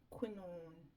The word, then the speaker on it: quinoa: So let me get crackalacking with seasoning up these chicken gizzard, and I'm going to cook quinoa rice. That's how it's pronounced, quinoa rice, not black wild black rice.